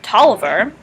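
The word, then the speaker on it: Taliaferro: lovely uh addition to campus that is called toliver and if you look at how tolliver is spelled you notice that the distinct o and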